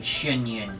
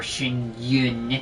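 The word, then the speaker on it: Xianyun: I didn't even know how to pronounce that cuz I'm not good at pronouncing the X sound of any name. Shinyun.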